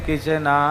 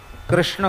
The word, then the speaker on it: कृष्ण: उच्चारण पर मंत्र में आपका ऐसे नहीं चलेगा कि कृष्ण को कृष्णा कह दो यह मंत्र में नहीं चलेगा राम को राम रामो